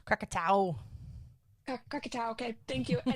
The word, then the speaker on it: Krakatoa: Krakatoa? Krakatoa.